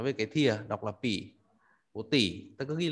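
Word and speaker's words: 匕: cái thìa, đọc là pỉ. Bộ tỉ, ta cứ ghi là bộ tỉ, nó về cái thìa là được. Âm đọc nó là pỉ, B-I thành 3, đánh trên chữ Y.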